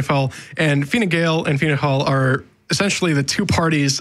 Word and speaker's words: Fianna Fáil: And then de Valera forms a party once he comes back called Fianna Fáil, which is, or Fianna Fáil.